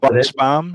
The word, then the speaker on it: Buchsbaum: I'm going to let you pronounce your last okay, name. Okay, the last name is Buchsbaum.